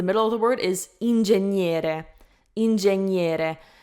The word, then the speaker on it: ingegnere: So be careful not to pronounce the G. Like, I feel like it comes naturally to say the G, obviously, because it's written in English. You pretty much always pronounce it, except for words like enough. Ingegnere, not ingegnere, okay?